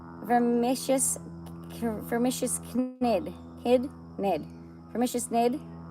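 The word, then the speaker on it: Knid: "It's vermicious vermicious nid nid vermicious nidy. I know I'm not supposed to pronounce the k.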